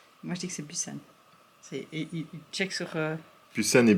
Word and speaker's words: Busan: Bon, c'est direction Busan ou Busan, ou je sais pas comment on le prononce en fonction de... Busan, c'est un B. Il y a un P. Non, c'est Busan.